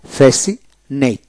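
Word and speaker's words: fascinate: science এভাবে হবে তারপর হল ফেসিনেট ফেসিনেট এফ এ ফে সি আই এস আই ফেসি এন এটি ফেসিনেট অর্থাৎ এস আই এন এটি ফেসিনেট সের উচ্চারণ হলো না এরপর হল কনসাস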